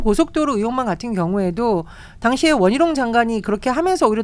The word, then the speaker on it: 원희룡: 양평 고속도로 의혹만 같은 경우에도 당시에 원희룡 장관이 그렇게 하면서 오히려 더 문제가 생겼다고 보는 거죠. 원희룡이라고 정확하게 발음해 주시면 원희룡.